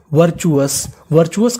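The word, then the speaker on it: virtuous: VIR, इसे पढ़ेंगे वर। क्या पढ़ेंगे वर। यहाँ पे हमारा आई हमारा साइलेंट है, आई का उच्चारण नहीं करना। वर। TU को यहाँ पे पढ़ेंगे चू, तो पूरी मीनिंग वर्चुअस का मतलब होता है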